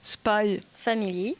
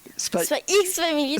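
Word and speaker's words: Spy × Family: Donc Spy Family. Spy X Family. Spy X Family. Bah ouais, il y a le X entre les deux, faut le prononcer quoi.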